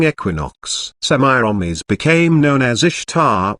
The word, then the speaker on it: Ishtar: semiramis became known as ishtar which is pronounced easter and her moon egg